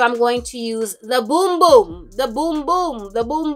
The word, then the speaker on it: Bum Bum: the boom boom cream i used to call it bum bum so sold asian arrow like they just got so sick and tired of people calling it bum bum because it's spelt b-u-m so you know bum bum but it's boom boom okay so y'all this